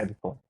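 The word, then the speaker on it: Ejiofor: Edge 4. Yeah, it's Okay. Edge of four.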